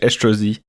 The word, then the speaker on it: Estrosi: By the way, I think we pronounce it in French Estrosi. Estrosi. Yeah, I think it's Estrosi. I knew I was missing a syllable.